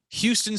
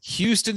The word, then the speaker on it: Houston: Oh, and then one of my all-time favorite modern day baseball names, Houston Street. Totally forgot about Houston Street. That is his name, Houston Street.